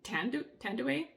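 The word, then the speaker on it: Thandiwe: I believe you say her name Tandue Newton.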